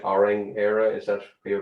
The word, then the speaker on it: Orang Éire: unique name for the club in my right auring era is that where you're pronouncing it yeah yeah quite quite unique but